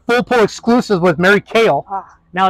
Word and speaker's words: Kehl: pull exclusive with Mary kale now it's pretty it looks like Keel but it's pronounced like the vegetable like the vegetable kale so every announcer for